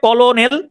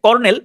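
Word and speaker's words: colonel: তাহলে কলোনেল এইটার উচ্চারণটা হচ্ছে কর্নেল। কিন্তু আপনি যদি স্পেলিং খেয়াল করেন তাহলে উচ্চারণটা হয় কলোনেল। সি ও ক এল ও কলোনেল। কলোনেল বা উচ্চারণটা উচ্চারণ কর্নেল। কিন্তু বানান হিসেবে আসে কলোনেল।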